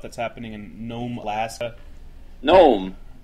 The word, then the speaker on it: Nome: Nome. Except without a G, so it's not a little tiny old man pedophile.